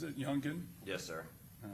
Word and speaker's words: Youngin: Now the rap video "Do It" that was done by Youngin Ace, is that how he pronounces it, Youngin?